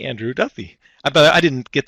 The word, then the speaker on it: Duthie: Eastern Time we've got G Andrew Duffy I bet I didn't get to pronounce that is it Duffy or Duthie I